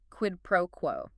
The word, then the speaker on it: quid pro quo: Quid pro quo. Q-U-I-D-P-R-O-U-O. quid pro quo, like QUED pro QUO. Stress on the first and last words.